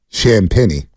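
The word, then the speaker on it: Champagnie: oh it's uh Juliet shamp Penny that's how you pronounce it shamp Penny yeah I guide I'll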